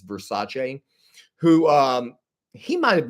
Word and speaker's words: Versace: Did you know that Versace, that we all say in America, it's not actually pronounced Versace. It's pronounced Versace.